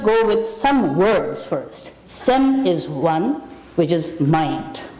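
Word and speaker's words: སེམས: word that comes from the term sem in tibetan sem is written s-e-m if you're writing phonetics and if you're transliterating then it is s-e-m-s sem is one okay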